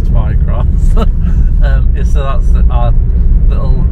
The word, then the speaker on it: Twycross: usual name places around I feel like I'm not pronouncing my arms properly when I say Twi cross but apparently it is Twi cross um so that's our